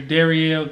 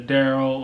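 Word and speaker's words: Derryel: And, I mean, not that I don't mind my first name, but no one ever pronounces right. I go somewhere, it's either Daryl or Durrell or Darrell or anything but Darielle.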